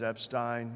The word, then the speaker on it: Epstein: the eye candy uh the pronunciation of my name is Epstein if you forget it there were three great Jews Einstein Epstein and Frankenstein I'm Epstein Jew in